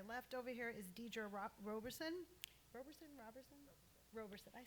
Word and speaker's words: Roberson: So I'm going to start with, to my left over here is Deirdre Roberson.